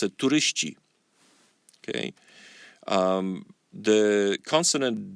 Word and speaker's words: turyści: But in Polish you say turysta, turyści. See, the last consonant of the word turysta is ty in singular. In plural, you change it to ci. So you pronounce it turyści.